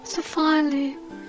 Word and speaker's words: Sophia Leigh: Yes, that is how you say it, Sophia Leigh. I had to Google myself, you know. I've been getting my name wrong all my life.